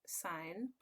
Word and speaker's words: sin: can write it as Xin but we still pronounce it as sine cosine for short we can write it as